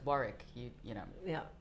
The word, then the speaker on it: Warwick: I remember when I was younger, my father had to correct me because I, we were driving past the farm. I think I was 18 or something, and I pronounce that incorrectly said, its War-rick.